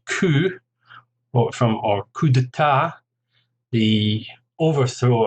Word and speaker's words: coup: language, and in fact we tend to even pronounce them very similarly to the original French. For example, the word coup, or coup d'état, the